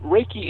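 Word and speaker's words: Reiki: that right I think I I I actually mispronounced it no it's pretty close raake raiki energy healing there it is you know as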